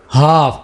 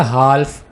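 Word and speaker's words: half: हाफ, इस word को आपने कभी ऐसे बोला हाल्फ, कभी भी नहीं।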